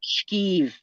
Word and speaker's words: schifo: And the correct spelling is Scifo, schifo. Really? But Italians don't pronounce it. That. Yeah, we don't pronounce it like that. We say it like skeeve, like SCHK.